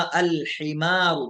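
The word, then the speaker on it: الحمار: हा से हिमा, अल हिमारू, तो देखो यहाँ लाम पढ़ा जा रहा है, साइलेंट नहीं हुआ।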